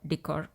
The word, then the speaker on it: decor: त्यांना म्हटले जात वॉल डिकर किंवा वॉल एक्सेंट डिकर चा उच्चार डेकर असाही केला जातो डिकर किंवा डेकर मेटल वॉल डिकर धातु पासून बनवलेले वॉल डेकोरेशन साठीचे जे आइटम्स असतात त्याला मेटल वॉल डिकर अस म्हणतात नेक्स्ट है